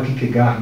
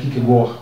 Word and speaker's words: Kierkegaard: O Søren Kierkegaard, a gente fala Kierkegaard no Brasil, né? Mas a pronúncia mais correta seria fechada, né? Kierkegaard, que ele foi dinamarquês.